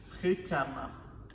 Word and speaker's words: fréquemment: fréquent fréquent va devenir fréquemment fréquemment donc vous voyez le ent va devenir EMT donc le ent devient EMT fréquemment et le E qui est ici se prononce comme un a fréquemment fréquemment fréquemment et